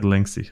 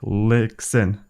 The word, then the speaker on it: Lixin: Lixin. I said Linksy. Lixin.